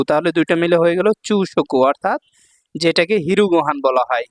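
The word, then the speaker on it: 朝食: তারপর দেখুন এইযে আসার কাঞ্জি এখানে চাইনিজ উচ্চারণ হল চৌ। আর এখানে হলো তাবে মাছের চাইনিজ উচ্চারণ হল শকু। তাহলে দুইটা মিলে হয়ে গেল চৌশকু। চৌশকু মানে হচ্ছে ব্রেকফাস্ট।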